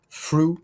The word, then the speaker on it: through: Through, c'est le seul qui va se prononcer en FR quelque chose.